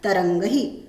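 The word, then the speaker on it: तरङ्गैः: केचन तरंगहि, इसका उच्चारण करना है तरंगहि।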